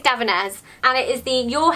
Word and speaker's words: Davines: This is by the company Davinés or Davínes... I don't know again... There's too many things I need to pronounce in this video. I think it's Davinés.